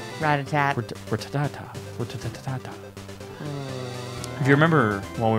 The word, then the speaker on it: Rattata: So now that I have stupid Rattata, you had to come back for one last thing. Which one? Rat-a-tat. Rattata. Rat-a-tat. Ratatata.